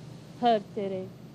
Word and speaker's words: Hertere: Jos van Hertere, que eu agora sou talvez o único feilice que pronuncia bem. Hertere, Hertere.